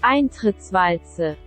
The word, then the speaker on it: Eintrittswalze: essa parada em alemão aqui embaixo, que se pronuncia Eintrittswalze.